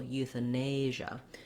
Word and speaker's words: euthanasia: And then our stress here is on the nay syllable, euthanasia.